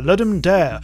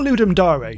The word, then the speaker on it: Ludum Dare: Roundup of games from the lam dare or ludum Dar depending on how you want to pronounce it so these are five